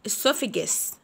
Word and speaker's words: esophagus: المريء esophagus esophagus esophagus esophagus. وعندنا هنا البي اتش بننطقهم اف، بنقول esophagus esophagus esophagus.